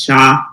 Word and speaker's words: chat: Words Ali cat and the French word for cat is sha so which is how you spell it CH a t it started as a